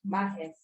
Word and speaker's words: Mahes: That's what it's pronounced as. Mahes.